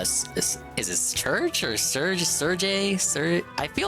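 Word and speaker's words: Cherche: have like uh is this church or Serge Sergey Ser I feel like church church I feel like I've been saying church but it's been wrong this whole time nobody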